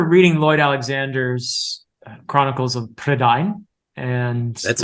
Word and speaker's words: Prydain: I was definitely a reader before then, but I remember reading Lloyd Alexander's Chronicles of Prydain. And that's how it's pronounced.